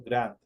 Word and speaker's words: grand: en la parte final pronunciando Grant con la de al final por ejemplo abuela es